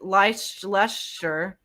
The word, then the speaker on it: Leicester: What undergarment did researchers in Leicester, Lester. Leicester, Literally just Leicester, pronounced Lester.